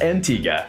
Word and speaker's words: Antigua: the island of Antigua yes pronounced Antigua there you have Sandals